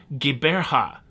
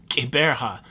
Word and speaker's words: Gqeberha: It has recently been renamed to a name that's very hard to pronounce. Gqeberha. You gotta make a clicking sound somewhere. Gqeberha.